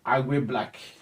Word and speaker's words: Agwe Black: My name is Agwe Black. Agwe Black. If you find it difficult to pronounce it, just the short form of Agwe.